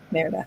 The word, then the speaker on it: Merida: I don't remember Merida, how do you pronounce her name? Merida.